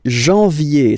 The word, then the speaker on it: janvier: But anyway, janvier, so that's the way to pronounce it. Janvier, A-N, en, okay? And then ye, janvier.